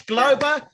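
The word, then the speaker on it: Glauber: I apologize if I pronounced your name incorrectly. Galber. G-L-A-U-B-E-R. G-L-A-U-B-E-R. That's correct. That's the one. Glober.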